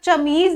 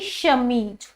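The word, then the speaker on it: chemise: और एक श, श जैसे अब मैं इसको अगर प्रोनाउंस करूंगी तो मैं चमीज नहीं करूंगी, मैं क्या करूंगी जी? शमीज।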